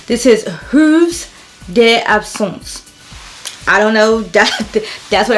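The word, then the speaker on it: Heures d'Absence: The H is silent and the AB is silent in it as well. I'll drop what the spelling of the name is, but it's Hooves d'Absence.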